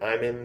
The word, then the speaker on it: IMN: it track number fourn I think you pronounce it I'm in because that's how he pronounces it in the uh in the actual lyrics this song is sort